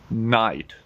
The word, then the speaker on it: knight: I G HT night night yes silent k night well done next word s